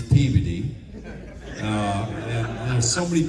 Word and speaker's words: Peabody: like don't go to Peabody, Massachusetts. It's Peveody.